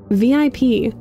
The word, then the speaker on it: VIP: what's VIP Ike asks he pronounces the acronym as a word rhyming with zip VIP you say Ike Giggles